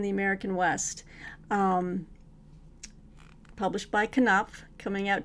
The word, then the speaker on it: Knopf: But it is, you do sound out the K. It is not silent. It is Knopf.